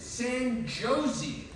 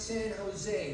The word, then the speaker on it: San Jose: I'd like to visit San Josie the New Yorker says San Jose it's pronounced San Jose the California says we pronounce the J like an H in California okay and tomorrow I'd